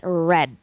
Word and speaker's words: read: mean same spelling but how we pronounce it if it's a past tense is read like this I don't know hypothesis